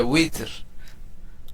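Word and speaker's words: وتر: তয়লাতুন, আমরা আমরা বলি না বিতির নামাজ, আসলে বিতির না, শব্দটা হচ্ছে উইতর।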